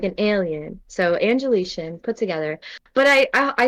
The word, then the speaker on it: Angelitian: if you must ask my name is angelician a lot of people uh have a do have a hard time pronouncing that but if you want to know where it came from it was angelina which is my first name i think that's what